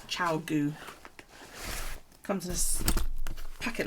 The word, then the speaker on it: ChiaoGoo: It's ChiaoGoo. That's how you pronounce that. No, it's got an O after the A. Chow. ChiaoGoo. ChiaoGoo.